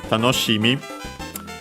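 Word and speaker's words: 楽しみ: it's worth mentioning that tanoshimi is actually accent on the she so be careful because this is an exception We have seen that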